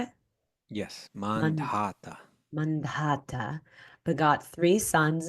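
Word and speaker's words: Mandhata: mandata is that how you say it yes mandata mandata beg got three sons in the womb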